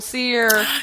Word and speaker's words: Sear: go we got coal sear yay last name SE like it's spelled s e a r but we know it's s r and there's no description